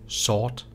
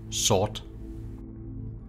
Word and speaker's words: sort: In Old Norse, black is pronounced svarta. And compared to Danish today, in Danish you say sort. So in Old Norse it's svarta, in Danish it's sort.